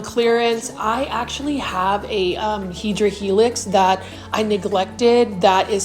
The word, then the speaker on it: Hedera helix: And then you can see right here, this is a Hedera helix, or what you would call a Hedera helix English ivy.